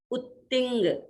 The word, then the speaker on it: उत्तिंग: अब त दो है तो ऊपर थोड़ा सा दबाव, उत्तिंग।